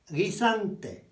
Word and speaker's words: guisante: GU followed by an E or an I is just a G sound. Another one would be garden peas. That's a garden pea is guisante.